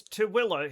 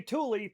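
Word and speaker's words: Tooele: Also t o l e spells tilla here in Utah. Why? don't know. That's what we call it here. If you say tulie, people like he's not from around here.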